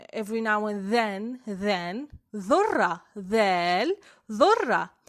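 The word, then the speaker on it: ذال: The letter dal represents the other sound that the English sound th produces, like in the words then, other, this, those, everyone, every now and then, dhurra, dhal, dhurra, dhal, dhurra.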